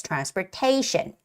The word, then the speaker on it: transportation: the word Transportation Transportation also in front of t n ta that a needs to have the stress it's Transportation okay and please stay tuned